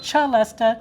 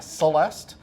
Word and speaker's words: celesta: it's actually called a celesta, which is Italian. The English, who do their own thing, call it a celeste.